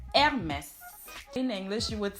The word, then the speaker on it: Hermès: Like they leave it, they can't pronounce it because in French you don't pronounce the H in the beginning. So you do say Hermès instead of saying Hermès. Okay, Hermès.